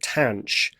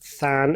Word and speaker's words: tanh: This is defined to be the hyperbolic tan, which is usually pronounced tanh x. You might think if we call it sine x, we call this than x, but we don't. We call it tanh x.